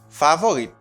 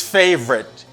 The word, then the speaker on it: favorite: see a second word how do you pronounce this favorite no favorite no I don't know you don't know it's favorite favorite Faye Brit favorite repeat